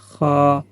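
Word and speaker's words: خاء: হা, খ, খ, ভিতর থেকে একটা বাতাস চলে আসবে, খ, এক আলিফ পরিমাণ টান হবে।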